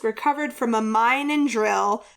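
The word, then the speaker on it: Dryl: from a mind and drill drill even though it's not spelled it's spelled Dr r y l it's a place where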